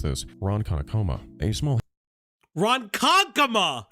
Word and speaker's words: Ronkonkoma: Specifically, and forgive me if I mispronounce this, Ronkonkoma, a small Ronkonkoma! It's Ronkonkoma!